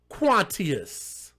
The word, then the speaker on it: Quantius: Let's spell it. Q-U-A-N, Quan, T-I-O-U-S. How the fuck else would you pronounce that? Quantius.